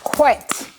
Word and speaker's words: whet: Whet. Some people say whet your appetite.